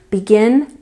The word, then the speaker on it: begin: Begin. Began. Begun. Where's the stress? That's right. It's on the second syllable every time. Begin. Began. Begun.